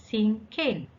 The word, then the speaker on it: cinquain: let's look at this the word thinking is pronounced as sin cain sin is the french word for five so